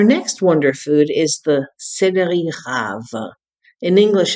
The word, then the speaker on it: céleri rave: Our next wonder food is the céleri rave. In English, it's called celery root. It's pronounced céleri rave.